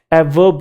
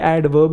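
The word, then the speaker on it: adverb: अच्छा ये ध्यान रखना ये ए और v के बीच में डी साइलेंट नहीं होता कुछ लोग इसे भी ए वर्ब कह रहे हैं ए वर्ब है ना इतना भी कूल नहीं बनना इतना रैपर डपर भी नहीं बनना ए वर्ब ए वर्ब नहीं है ये एडवर्ब ही है मैंने ए और जे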